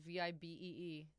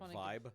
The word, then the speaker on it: Vibe: I think it's VIBEE. They are like an entertainment company. And it's spelled like vibe. Credit for that, yeah. Go. But it's Vibe. Yeah.